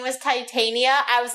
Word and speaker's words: Titania: who plays Jennifer not titiana oh no it's titiana no it's Titania oh my God it's totally wrong it's Titania I forgot we that was